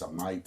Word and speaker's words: Amite: I'll spell it out for you. A M I T E and I pronounce it as a Knight, Mississippi.